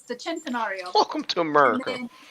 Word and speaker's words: Centenario: By the way, Rainy, it's Centenario. Same thing. Say it in Italian, say it in American. Centenario.